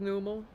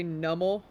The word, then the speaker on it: Numel: It's a camel that's numb. But we all say it like it's phonetic. Wait. Hold on. Are you telling me there are people that say nummel? If there are people that say nummel, this is gonna bug me for the rest of the day. Like, this one is literally, like, said the way it's spelled. It's not numb. It's not nummel.